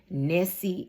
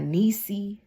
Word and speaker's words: Nessie: Nessie, it rhymes with messy. Not Niecy, not none of that.